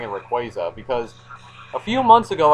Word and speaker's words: Rayquaza: I had been pronouncing Rayquaza's name uh wrong for well an extremely long amount of time apparently the official pronunciation is Rayquaza yeah the Y is silent apparently but I did not